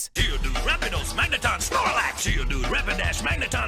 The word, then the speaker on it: Rapidash: An early version of Tuesday's rap is here, where Floyd pronounces Rapidash as Rapidose. Honestly, it was worth the re-record just for how he said Snorlax in the final mix. Geodude, Rapidash, Magneton, Snorlax.